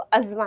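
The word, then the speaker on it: asthma: Next, अस्थमा, या इसका जो रियल प्रोनाउंसिएशन है उसको अज़मा है, बट हम बोलते हैं अस्थमा है, लेकिन इसका प्रोनाउंसिएशन अज़मा है, ठीक है।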